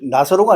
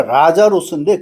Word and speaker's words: 라자로스: 믿느냐 하시니 이건 주님께서 나사로 즉 나사로가 아니고 라자로스입니다. 엘라 발음 자체가 라자로스인데 그거를 옛날에 우리가 나사로 번역을 했기 때문에 라자로스는 모르고 다 나사로라로 알고 있는데 그것은 부정확한 지식이에요.